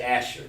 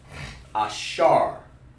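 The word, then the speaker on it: אשר: Over here in English, you want to just say Asher, because that's how they pronounce it in English. But in Hebrew, it's Ashar. Ashara. Over there is Ashara or Ashar.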